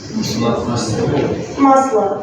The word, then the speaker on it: масло: Maslo, that's good.